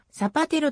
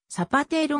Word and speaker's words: サパテロ: 長を務めた日本語ではサパテロと表記されることが多いがスペイン語のアクセントは基本的に後ろからに番目の音節に落ちるのでサパ程度のように聞こえるざパテロと